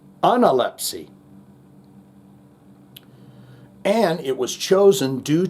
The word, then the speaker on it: Analepsy: The correct pronunciation of the name of the band is analpy. Anelpsy. And it was chosen due to its now obsolete meaning recovery of strength after an illness. Analypsy.